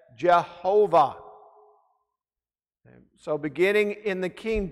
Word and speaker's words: Jehovah: So the translators of the first English Bible placed the vowel sounds of Adonai between the German equivalent consonants of God's name, and those German equivalent are J-H-V-H. And that's how they got the pronunciation of the name as Jehovah.